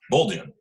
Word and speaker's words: Bolduan: It's Kate Bolduan. I'm pretty sure that's how you say it. Bolduan.